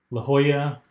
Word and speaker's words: La Jolla: Now, I haven't dug so much into the Lahala, Lajala, La Jolla. La Jolla is the actual pronunciation.